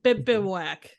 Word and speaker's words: bivouac: But when it crawls into my bivouac, but how do you pronounce it? Basically, it's a temporary camp. Bivouac.